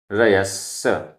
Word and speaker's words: रयस्स: सज्जाय, आधा ज झ, सज्झाय, सज्झाण, आधा ज झ, सज्झाण, रयस्स, आधा सा पूरा सा, रयस्स, सज्झाय, सज्झाण, रयस्स, सज्झाय,